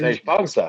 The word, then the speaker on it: Vejpongsa: V-E-J-P-O-N-G-S-A. Yeah. Vejpongsa? Yeah. Jemsi. Vejpongsa.